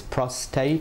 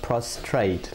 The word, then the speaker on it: prostate: It's prostate and not prostrate, like most people say.